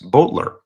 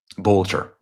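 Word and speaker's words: Boelter: Vance Bolter. Bolter. I'll say it correctly.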